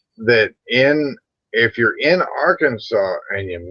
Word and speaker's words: Arkansas: did you know that in if you're in Arkansas and you mispronounce the name Arkansas it's a Mis me